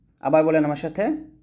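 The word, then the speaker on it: ث: এটা সাটা হচ্ছে সা এটা জিহ্বার আগাটা কোন ভাবেই মানে কোন ভাবে আপনি নিচের দাঁতে লাগাবেন না এটা উপরের দাঁতের আগা লাগাবেন পাতলা করে সা এরকম ভাবে এটা খুবই গুরুত্বপূর্ণ আমরা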